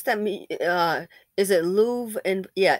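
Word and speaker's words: Louvre: me uh is it Lou and yeah it's uh it's spell they pronounce it Lou and Paris the museum l u v re I said you've got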